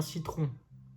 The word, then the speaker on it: citron: Donc, un citron, citron. On voit que devant le I, le C se prononce S.